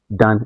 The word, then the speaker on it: tanh: You'll be the one that will find the derivative of We pronounce this as tanh X. Yes, like tanh tanh X.